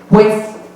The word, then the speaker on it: pues: pronunciemos bien es el pues. Decimos pues. Se dice pues. Pero ni siquiera una U, es una P y una S.